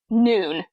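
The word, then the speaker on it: Nuun: She's like, "I have this um bottle of noon is what it's called, but it's spelled N U N. That's why no one knows how to pronounce it."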